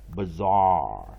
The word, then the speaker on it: bizarre: deep sound 2连音。bizarre 所以这边 AR 就是一个2连音就是 ARR zar bizarre 那当然我们看第二个字 operation OP interpon ER interpon ATION 当然